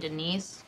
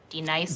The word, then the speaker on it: Denise: Do you mean Denise? Son of a bitch! You say your name right now. Denise? Say it right. Denise. Correctly. Denise. Right. Denise. Right. D-Nice. That's better.